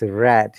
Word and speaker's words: read: i think so no your pronunciation should be read not read if you say read it becomes present and the past tense of read is red though the spelling is same yeah no remember that